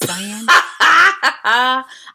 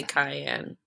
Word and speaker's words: cyan: Cyan. I think it's supposed to be cyan, but I say cayenne.